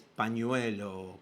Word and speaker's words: pañuelo: Obviemos que no puede pronunciar la ñ, ¿no? Es pañuelo, Pecker.